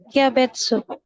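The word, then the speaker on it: kyabetsu: Kiabetsu. Oke, ya. Itu dibacanya kia. Kia, minasan, huruf ki dengan ya kecil ya. Kia. Betsu. Kia betsu. Bukan i ya betsu. Bukan ya, tapi yang benar kia betsu.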